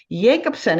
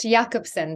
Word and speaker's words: Yakobson: Today, our conversation is all about leadership, and who better to discuss it than Yakobson? Is that how I pronounce it? Almost Jakobsen, but that was close enough.